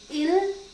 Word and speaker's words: ils: Il with s, l with s, but the pronunciation remains same. Okay. And this is so. Okay, so ils sont, they are, for